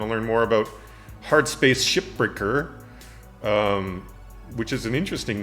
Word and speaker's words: Shipbreaker: So yeah, I want to learn more about Hardspace Shipbreaker, which is an interesting name. I've heard a lot of people say it wrong, and they say shipbreakers.